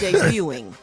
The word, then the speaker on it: debuting: The tea is silent, Gary. It's debuting. Debuting. Yes. Not debuted.